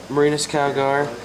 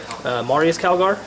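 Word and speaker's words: Marneus Calgar: And then over here we have Marinus Calgar, and we have his honor guard here, and Marius Calgar? yes, Okay, that's cool.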